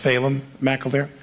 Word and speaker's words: Phelan McAleer: It's pronounced Phelan McAleer.